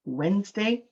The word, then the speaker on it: Wednesday: And when we say Wednesday, we kind of cross out the D. We don't say the D, right? And so we kind of do it like this. It's pronounced Wednesday. Even though the D is there, it's just there to look pretty, doesn't do anything.